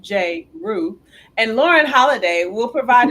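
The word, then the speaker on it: Jrue: the creation of the jlh fund drew spelled j roo and lauren holliday will provide an additional 1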